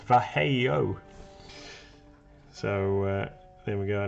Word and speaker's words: Vallejo: MLG was looking up some information the other day and found a fact about Vallejo, and it's actually pronounced Vallejo.